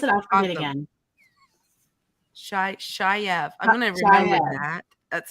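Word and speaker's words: chèvre: My mother-in-law was like, no, you said it wrong. It's Shayev.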